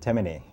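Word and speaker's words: Temne: the people uh that known as timney chimney t-e-m-n-e t-m-t-e-m and in karakou they pronounced it temene but it's chimney in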